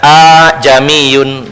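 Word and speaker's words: ءأعجمي: Arab Maksudnya ya Nah sehingga kalau kalau dibaca a jamiun ini sulit sehingga dipermudah sehingga istilahnya dalam ilmu Tajwid adalah tashil jadi bacanya sedikit seolah-olah dipanjangkan a jamiun begitu ini kita tidak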